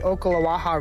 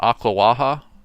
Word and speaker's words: Ocklawaha: He's pronouncing that weird though. Is it not Ocklawaha? That's how I grew up pronouncing it, but I could be wrong.